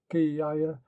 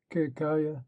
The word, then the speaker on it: Ketkuda: is meant the Ketkuda, commonly pronounced Kiyaya, or in Egypt Kikaya, who was the deputy